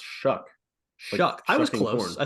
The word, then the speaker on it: Shough: potentially our friend uh he tweeted in 2017 that it's pronounced shuck Shu I was close I said shook yeah so it's Tyler shuck okay we'll go back